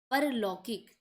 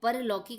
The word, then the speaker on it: पारलौकिक: चलिए नेक्स्ट है, बहुत बार ये क्वेश्चन आया है ये वाला, परलौकिक। तो परलौकिक नहीं होता है बल्कि क्या होता है, पारलौकिक, ठीक है, इसे ध्यान रखेंगे, बोलते भी चलेंगे, पारलौकिक, बार बार बोलेंगे उसे।